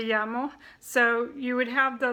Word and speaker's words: llamo: and the Double L the Double L sounds like a why sound so it's like yeah mo me llamo so you would have